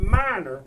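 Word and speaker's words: Meinerz: el allen his name is quentin but he pronounced it minor i don't know how you get minor out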